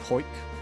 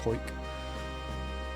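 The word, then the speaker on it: Hawick: called um yeah called hoik spelled h a w i c k but pronounced hoik so she's from there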